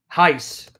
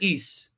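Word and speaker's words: εἷς: I just got discombobulated I'm not gonna pronounce it heist forget about heist okay I'm gonna pronounce it eise this is what happens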